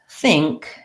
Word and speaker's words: think: So most of you probably pronounce the word think correctly.